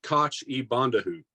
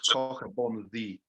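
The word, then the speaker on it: Coch-y-bonddu: So it's not pronounced Koch e Bondahu. No, mate, it's CH is in Welsh. Yeah. Okay, Cork- I just wanted to make sure. Cork means red. Bon is bon, as you would say, and double D is pronounced th. So it's cockabon the.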